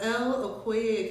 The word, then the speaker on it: Okoye: Founder of Okoye Academy. Did I pronounce that?